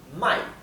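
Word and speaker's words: 买: Mai, o sea, el tono es cae y sube. Mai, ¿bien?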